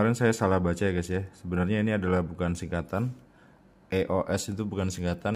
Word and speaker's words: EOS: Ya, sebenarnya itu bukan singkatan; EOS bukanlah singkatan. Cara membacanya yang benar adalah sebagai satu kata: "EOS," teman-teman. Bukan " E-O-S" seperti itu.